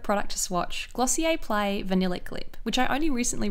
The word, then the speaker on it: Vanillic: I always thought it was vinylic lip, as in a lick of vinyl, but I saw an interview with Emily Weiss and she says vanillic.